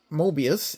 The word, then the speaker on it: Moebius: Moebius, as I found out that's how they're pronounced, has their label right inside the fuel tank.